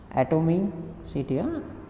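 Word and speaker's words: atomicity: तो 2 एटोमिसिटी मतलब एटोमिसिटी, इस तरह से आपको प्रोनाउंसिएशन करना है, ठीक है।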